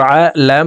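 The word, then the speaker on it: على: খাতাম হাফেশ হু খতামু আইন জবর আ লাম খারা জবর লা লামের উপরে খারা জবর আছে তাই এই লামকে এক আলিফ টেনে পড়বো আলা কফ পেশ উলাম ওয়া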